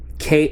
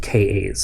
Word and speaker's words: Ka: pronounced they were just KAS so to my experience this is a k a not a Ka well the ka-52 is